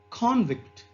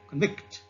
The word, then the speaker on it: convict: And the noun convict into a verb like convict. Okay, convict, convict. So here the stress is on C and here it is on C.